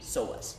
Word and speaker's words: psoas: And it's spelled with a P, psoas.